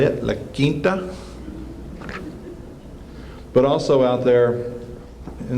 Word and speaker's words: La Quinta: Those of you in North Texas need to learn how to say it, La Quinta.